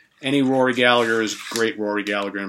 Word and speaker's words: Gallagher: I always want to say Rory Gallagher. I think most of us non-Irish folk say Rory Gallagher, but I believe the way he actually pronounces it is Rory Gallagher. I think the G is silent, right?